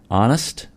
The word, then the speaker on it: honest: Honest, H is silent.